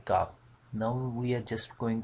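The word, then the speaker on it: قاف: here, so this is the exact place to pronouncing this letter Qaaf. Now we are just going to practice of this letter, so you listen carefully and then try yourself. Qaaf, Qaaf.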